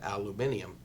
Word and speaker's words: aluminium: them somewhere else kitimat bc currently have an aluminium terminal there no I didn't say it wrong it's actually pronounced aluminium and this little gorgeous Hamlet is on the